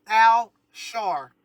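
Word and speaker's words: Al-Shar: the great Al Shar, and that's Al Shar, almost like Al Sharpton. Al Shar, and that's spelled Al hyphen Shar.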